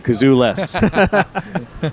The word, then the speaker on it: Kazules: name what's your last last name is kazus that's uh pronounced like uh without a kazoo kazul so if you're at a sad party you're Kazo less that's right uh let's